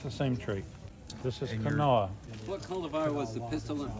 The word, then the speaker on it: Kanawha: You'll look at it, you probably think Kanawha, but it's an Indian name and it's Kanawha.